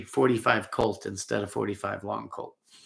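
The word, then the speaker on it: .45 Colt: and the other one is a Henry big boy and 45 long Colts or 45 Colt is the proper way to say it a lot of people say Long Colt but proper way is 45 Colt if you're talking to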